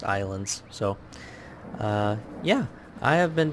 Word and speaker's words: Ylands: that even though there's a why it's it's pronounced islands so yeah I have been doing some grinding